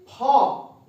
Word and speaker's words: folk: Fairy फॉक माने परियों का झुंड। देखिए एफ ओ एल के यहां पर एल साइलेंट होगा, इसको हम पढ़ेंगे फॉक।